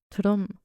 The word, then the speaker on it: Tudum: And she was like, it's a sound that Netflix makes. It's TUDUM. I was like, oh, that's embarrassing.